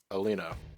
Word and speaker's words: Elena: a new recruit here Alena or Alena there's only one in there only one either well one in the middle it's Elena Elena Elena Elena anyway Elena is